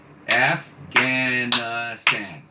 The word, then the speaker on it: Afghanistan: Afghanistan. How many syllables? Afghanistan. Susie, that's right, four. Four syllables.